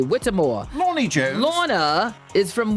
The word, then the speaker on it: Whitmore: Am I AKA Lonnie pronouncing Jones. her name Whittemore. correctly? Whittemore.